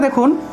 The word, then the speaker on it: দুঃখ: তাহলে এই ক্ষেত্রে যেহেতু বিসর্গটা কোনো একটা শব্দের মাঝখানে আছে সেই ক্ষেত্রে আমরা দুঃখ এভাবে উচ্চারণ করব, আর কোনো একটা শব্দের শেষে যদি বিসর্গ থাকে তাহলে পূর্ণরূপে সর্বহ সর্বহ অর্থাৎ পূর্ণরূপে হটা উচ্চারণ হবে, ঠিক আছে।